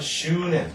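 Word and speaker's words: 執念: 그래서 이걸 뭐냐면 슈넨, 이때는 슈넨 이렇게 슈하고 있는 점에 조심하자.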